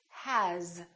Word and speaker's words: has: example the word has it's spelled with an S but the sound is actually Z has here's another one this